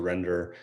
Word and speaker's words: Rendr: Render is actually Chinese for dignity and kindness, but it's pronounced render.